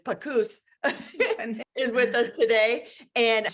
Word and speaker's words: Panus: It's like caboose, but it's Pagoose, is with us today.